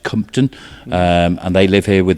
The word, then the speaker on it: Compton: That's Compton, but pronounced Compton.